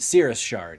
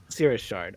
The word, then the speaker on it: Cirrus Shard: Cirrus Shard, yes. Cirrus Shard. Okay, not citrus.